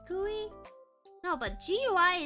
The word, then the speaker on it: GUI: Gooey. You like gooey? No, but GUI is most definitely supposed to be pronounced gui.